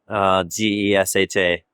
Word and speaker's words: Gesha: So when it was taken from the forest originally, it was closest to a town called Geisha, phonetically 2 syllables, Gesha.